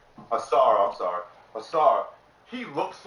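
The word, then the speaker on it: Ausar: Now, I understand that I keep getting his name wrong. Asua, is that how you say his name? Asar, I'm sorry.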